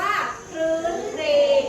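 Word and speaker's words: ครื้นเครง: มา ควบ ด้วย เลย อ่าน ว่า ครื้น เครง อ่ะ ถ้า ได้ สังเกต นะ จะ อ่าน ควบ กัน ทั้ง 2 ตัว เลย ที่ ทำ หน้า ที่ เป็น พยัญชนะ ต้น อยู่ อ่า ที นี้ ค่ะ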